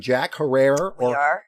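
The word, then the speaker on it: Jack Herer: As we do spark up, Chela, we are smoking some Jack Herrera or Herrer. Terror. Depending on who you talk to. Well, somebody said that Jack Herrer told them it rhymes with terror.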